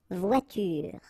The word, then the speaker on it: voiture: It's à la fin d'un mot, at the end of a word, then you shouldn't pronounce this like here, une voiture.